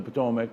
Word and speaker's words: Patawomeck: to the Patawamik name, the pronunciation right here is how it's pronounced. Nestled upon the banks of the Rappahannock River, and we're very excited about the future of the Patawomeck tribe.